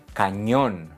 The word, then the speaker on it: cañón: Canyon, cañón.